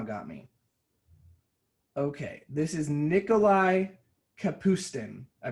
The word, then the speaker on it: Nikolai Kapustin: Okay, this is Nikolai Kapustin. I pronounced it right.